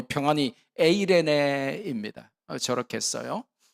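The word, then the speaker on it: εἰρήνη: 어떤 학자는 이제 저 N자 비슷하게 되어 있는 게 이제 에 발음인데, 요새 나오는 젊은 학자들은 저걸 에라고 읽지 않고 에이로 읽어요. 그래서 에이레이네이 이렇게 읽기도 하는데 뭐 같은 말입니다. 에로 읽거나 에아이로 읽거나 에이로 읽거나 같은 말인데, 에이레네, 저게 이제 구약의 히브리어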